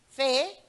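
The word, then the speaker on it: פ: It's called the Fe. Ganun ang pagkabigkas.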